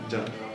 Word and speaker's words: Jan: Jan. Jen? With J? C. Oh, A. N. and you pronounce it Jen?